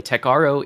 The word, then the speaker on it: Techaro: which, by the way, Techaro is the canonical pronunciation of it, and it is intended to be one letter off from Tech Bro.